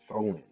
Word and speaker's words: Samhain: Halloween's origins date back to the ancient Celtic festival of Samhain, pronounced Solin.